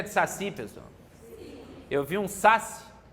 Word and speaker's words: saci: Qual é a sílaba tônica de saci, pessoal?